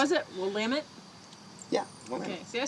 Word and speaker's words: Willamette: Willamette?